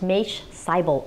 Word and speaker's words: Maish Seibel: His name is pronounced Maish Seibel, MD.